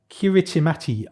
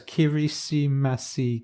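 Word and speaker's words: Kiritimati: in the world in the world which is kirichimati island or atoll kiwichi mati how do you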